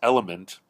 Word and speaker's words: LMNT: But to me, my cardiologist recommended a brand called LMNT, like the letters LMNT, which is pronounced element, from Elemental Labs, and it's called Recharge Electrolyte Drink Mix.